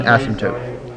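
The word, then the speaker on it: asymptote: name it's called an Asm toote that's how you pronounce it it's asot the p is silent and the as sounds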